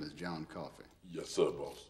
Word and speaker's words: Coffey: Your name is John Coffey. Yes, sir, boss. Like a drink. Only not spelled the same.